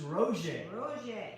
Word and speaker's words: Roger: rogers yeah cajun cookbook it's spelled like roger yeah r-o-g-e-r but the french pronunciation is rosie so it's rosie's cajun